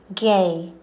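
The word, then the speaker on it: γῆ: The word spelt G-E is pronounced gay.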